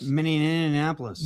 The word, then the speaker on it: Minneapolis: Minneapolis.